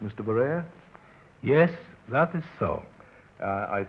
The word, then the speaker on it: Barere: so was frequently mispronounced Barere. The additional E has been added in recent years and helps us to give the correct pronunciation, Barere. Now, I believe that is correct, Mr. Barere?